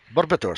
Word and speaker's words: Barbatos: Barbatos. I pronounce it correctly.